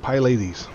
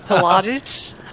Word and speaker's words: Pilates: that how it's pronounced i always pronounce it pie ladies oh pilates yes and no i never